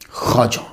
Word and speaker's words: خواجہ: آجامیر کی خواجہ، اس کا تلفظ جو ہے وہ خواجہ ہے. لکھا جاتا ہے خا، واو، الف اور جیم آگے پھر وہ ہا. تو خواجہ نہیں پڑھیں گے، اسے خواجہ پڑھیں گے.